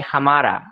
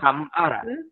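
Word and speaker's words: हमारा: I mean, the word originates from Hindi, and actually, the accent is a bit different. We say Hamara. With rolled R. Hamara. Yeah, Hamara.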